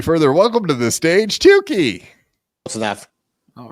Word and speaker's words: Tooke': It's just Tuki. It's It's Tuki.